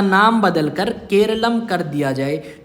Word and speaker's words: Keralam: उसमें केरला है, जबकि हमारी भाषा में केरला को केरलम बोला जाता है और केरलम शब्द का इंग्लिश प्रोनाउंसिएशन केरला है।